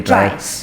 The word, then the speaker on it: TRIACE: So how do you pronounce the name of your company? TRIACE. TRIACE.